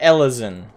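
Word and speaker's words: Elezen: they're not technically elves they're ellison and humans aren't human we're higher which is spelled h-y-u-r ellison is spelled e-l-e-z-e-n um there's also the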